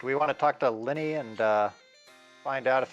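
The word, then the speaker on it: Linni: with assuming i didn't get the name totally wrong it's lenny okay i'm just gonna blame it on the whole feline tongue i mean it's l-i-n-n-i so on me honestly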